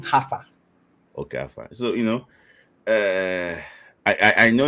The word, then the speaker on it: Haifa: Now, the spelling is Jaffa, but they pronounce it Haifa.